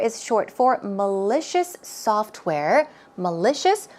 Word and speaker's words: malicious: short for malicious software malicious the stress goes on the second syllable and malicious itself means